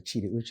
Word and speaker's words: Chidi Uche: all the way in from Jacksonville Florida Dr Chi uch welcome thank you do miss my name is Dr cheetah uch thank you for having me absolutely and you know I made sure I pronounced that precisely you're the founder of Jacksonville